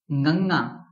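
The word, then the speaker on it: ਙੰਙਾ: So the pronunciation of this letter is Nganga, and it is tough, right?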